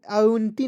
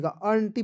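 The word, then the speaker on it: aunty: चलिए आगे बढ़ते हैं ए यू एन टी वाई तो क्या पढ़ेंगे दोस्तों आटी नहीं पढ़िए अटी पढ़ा जाएगा कैसे ए यू तो हो जाएगा आन एन है तो ऊपर बिंदी लगाइए टी है तो ट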